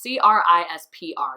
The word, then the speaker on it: CRISPR: note CRISPR stands for it's CR is PR you say it like CRISPR but it's missing nulls anything to do with